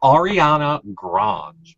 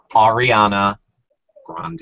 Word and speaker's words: Ariana Grande: Like it's spelled Grande, but I feel like when they said it, they said Grange. So Ariana Grange, but it's Ariana and Grande. Ariana Grande.